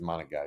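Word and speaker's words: Monangai: I think it's Monagai is how you say it.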